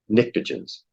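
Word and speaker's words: pnictogens: yeah halogens yeah yeah uh 16 is calcagens and nitrogen group is nictages the p is silent yeah nitrogen group yeah the P Asylum yeah there you go okay 34.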